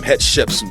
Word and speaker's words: Hatshepsut: Hatshepsut.